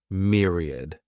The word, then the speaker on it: myriad: This word has 3 syllables, and the stress is on that first syllable, mere. Sounds like mere, myriad.